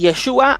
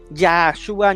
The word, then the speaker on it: Yeshua: un testigo de que no se pronuncia Yahshua ni todas estas variantes, personas que sinceramente no tienen noción de estos idiomas, y empiezan a decir Yahshua, Yahshua. No existe eso, no existe, y eso